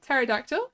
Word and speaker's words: pterodactyl: good time oh yeah pterodactyl pterodactyl isn't hard to say it's spelled weirdly but it is very simple it's just te ignore the P teract to and that's it great why